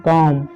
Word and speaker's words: comb: अगला एग्जाम्पल आपने देखा होगा, COMB काम, है ना, तो इसको भी क्या पढ़ते हैं, काम। इसका मतलब होता है कंघी या कंघा होता है। ठीक है, इसको काम यानी बा नहीं पढ़ना है, बी को आपको नहीं पढ़ना है।